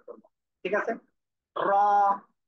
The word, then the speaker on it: ر: র, এই অক্ষরে এক আলিফ টান হবে, সবাই একসাথে বলেন।